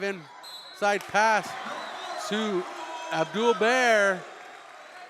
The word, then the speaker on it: Barre: Abdul Baer gets the bucket. Aiden Dolan checks in. Now checking in the game for the Royals. Number 14. Chase Untall. And a pronunciation update. Barre Number 2.